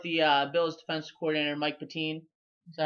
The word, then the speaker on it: Pettine: They go with the Bills defensive coordinator Mike Pettine. Is that how I pronounce it? Pettine.